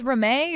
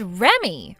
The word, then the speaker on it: Reme: Do you read that as Reme or do you read that as Remy? Huh? You're supposed to read that as Remy. Remy. So your name is Remy? It's spelled Reme, but you read it like Remy.